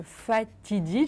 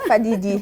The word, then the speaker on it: Fadidi: Alors, vous êtes passionné de photographie et vous avez monté en décembre 2020 l'exposition de Fatidi, j'espère que je prononce bien. Fadidi. Fadidi, voilà, qui veut dire bienvenue en sérère, une langue locale.